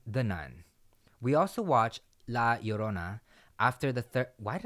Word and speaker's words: La Llorona: We also watched La Llorona after the third...